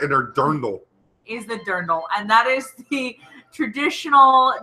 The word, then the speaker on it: dirndl: the dirndl there no I love it is pronounced dirndl it's beautiful and it is the dress if